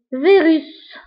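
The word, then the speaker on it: virus: اكزامبل ثاني فيروس فيروس الفيروس هو الفيروس فيروس الوغ هنا ايضا نطقنا لا ليتر اس نطقناها بلو سون س.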